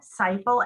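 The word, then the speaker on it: Seiple: again it was ryan something yeah it's ryan seifel s-e-i-p-l-e he's community affairs officer with pennsylvania state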